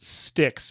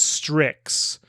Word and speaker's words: Strix: I mispronounced it Styx. It's Strix. And thematically referred, still like River Styx.